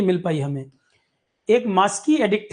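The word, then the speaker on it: Maski: अशोका के समय की मिल पाई हमें एक मास्की एडिक्ट है कर्नाटक में मास्की एडिक्ट मास्की ये स्पेलिंग है एम ए एस के आई मास्की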